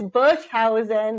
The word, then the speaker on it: Boshuyzen: doesn't sound like yeah yeah yeah yeah practice book housing that's how you pronounce the last name yeah I like to